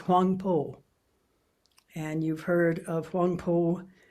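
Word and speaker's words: Huangbo: The Chinese reading of those characters is Huangpo.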